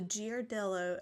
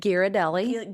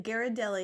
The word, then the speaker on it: Ghirardelli: choose to partake in dark chocolate is the giardelloo. How do you say it? Girardelli. Ghirardelli.